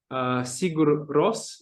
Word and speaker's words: Sigur Rós: Возможно, ты знаешь Сигур Рос. Я не знаю, Да, как Sigur это Rós.